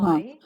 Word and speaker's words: wry: And And your stories of silly, no, Sly, sly, where no, the wry, W is not pronounced. Yes, uh, rye.